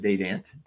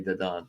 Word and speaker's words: Dadant: They pronounce it Dadant, Dadant, Dadant instead of Dadant. Yeah, they don't pronounce it the French way. They don't say Dadant. They say Dadant.